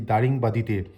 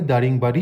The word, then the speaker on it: দারিংবাদি: পৌঁছাতে আর কি দারিংবাদিতে কি ভাবছেন বারবার দারিংবাদি ভুল নামটা কেন উচ্চারণ করছি আসলে আমিও আগে দারিংবাড়ি জানতাম কিন্তু এখানে এসে একজন লোকাল শিক্ষকের সাথে কিছুক্ষণের জন্য আলাপ হয়েছিল তিনি আমায় শুধরে দিলেন আসলে দারিংবাদী হলো পূর্ব ভারতের উড়িশা রাজ্যে